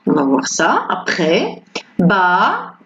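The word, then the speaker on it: bas: Ba. On ne prononce pas le S.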